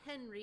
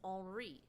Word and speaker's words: Henri: It's not Henry, it's Henri. Because it ends with an I instead of a Y.